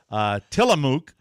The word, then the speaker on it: Tillamook: Tillamook, did I pronounce that correctly? Yeah, it's a great brand. I like Tillamook.